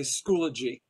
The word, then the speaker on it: Schoology: But most of the time nowadays they say Schoology in 3 syllables.